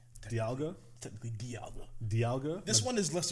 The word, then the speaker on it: Dialga: Technically Dialga. Dialga? This one is less egregious. Okay, so Dialga, D-I-L-I-A? It's pronounced, it's spelled die, but it's pronounced D. Dialga. The official Pokemon pronunciation. Dialga.